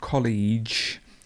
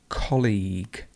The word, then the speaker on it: colleague: we've got the word this is really difficult for many people colleague so the stress goes here and it's not college because college sounds a little bit like college so please pay attention to this one it's colleague colleague great now we've got